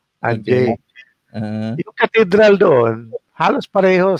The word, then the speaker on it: Angers: part Uh France yung ang they call it angers I pronounce it angers a n g e s pero sa mga French tawag nila anj anj yung cathedral doon halos pareho sa Cathedral yun